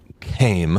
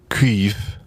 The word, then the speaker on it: Caimh: It's Caimh, which it looks like came. Came. But it's pronounced, I guess, Queeve McDonald. Yeah. Queeve? Queeve, because, Yes. the M makes a V sound, and the H makes also a V sound, and the AI makes a we sound, I think.